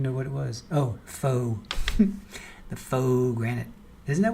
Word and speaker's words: faux: see she is covering for him fo Grant that's how you say it Fox isn't it fa a ux fox it's like uh fo faux sure faux faux Granite Lily Wayne says